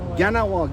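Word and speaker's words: Kahnawake: communauté de ganawag ici oh ganawag c'est comme ça qu'on le pronon c'est pas que les cas les les cas sont prononcés comme des g donc ça ressemble à Gana W Gana W à peu près puis qui ont qui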